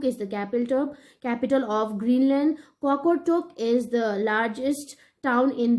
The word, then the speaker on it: Qaqortoq: The largest town in the southern Greenland is Qaqortoq. This is pronounced as Qaqortoq.